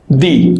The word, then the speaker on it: the: pronounce it the and if that word begins with the vowel we'll pronounce this D okay now this the